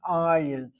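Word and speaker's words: עַיִן: Ayin, with an ayin with a patach, and the accents on the open vowel, patach, ayin hara, evil eye.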